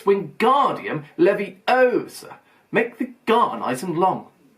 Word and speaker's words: Wingardium Leviosa: much more look when guardian Leviosa he shouted waving his walk long arms like a windmill you're saying it wrong Harry heard Hermione snap it's wingardium Levy Osa make the gun Eisen